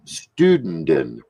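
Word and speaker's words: Stünden: It's pronounced Studenden with the NDN in it. It depends on how you put your accent with it. It almost sounds like you're saying student, but there's no T.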